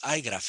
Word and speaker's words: igraph: iGraph en español y yo creo que todos decimos iGraph en inglés con esa, eh, esa pronunciación, ¿no?, de la I como pues, en inglés iGraph.